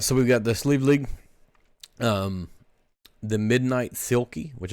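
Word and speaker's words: Sliabh Liag: without looking it up it is sleeve league but it is spelled welcome to Kentucky s-l-i-a-b-h-l-i-a-g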